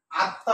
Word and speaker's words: আত্মা: এবার আসি, যদি আত্মা শব্দটা লিখি, আত্মা, এটার উচ্চারণ হবে কি আত্মা, আত্মা, আত্মা শব্দটার উচ্চারণ, সঠিক উচ্চারণ হচ্ছে এইভাবে আত্মা। তাহলে এখানে আছে আত, এখানে আছে তা।